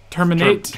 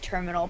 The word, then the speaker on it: Termina: Terminate? Yeah, terminate or terminal. So either way, I always thought it was it's terminal. Termina. So, and as a child, I always said terminal, but then again, I